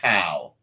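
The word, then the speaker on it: CAO: They like that to be pronounced cow.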